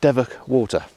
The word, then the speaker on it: Devoke Water: It is pronounced Devoke Water.